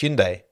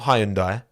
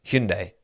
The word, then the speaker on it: Hyundai: team and it's pronounced Hyundai not Hyundai not Hindi not it's Hyundai that's how the Koreans pronounce it I checked when I